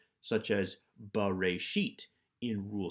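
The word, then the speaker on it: בראשית: Always pronounce the schwa if it is at the beginning of the word, or in my example here, the beginning of the Bible, since this is the first word of Genesis. Ba, pronouncing the schwa, ba-re-sheet, in the beginning.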